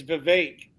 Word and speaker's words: Vivek: oh no Vivek Vivek it's Vivek yeah yeah that's how he said that's how he said to say his name is it's cake so okay well here's